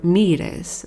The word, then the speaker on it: Moirai: and that is why they were called morai in Greek or mirez as they are called with the Greek pronunciation.